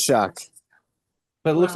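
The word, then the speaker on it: Shough: It's Shuck.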